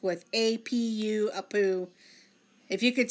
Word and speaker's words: Apu: misspelled there it is I poo which is spelled APU and Shana Bowser got it correct but Shana Bowser got it correct with APU a poo if you could spell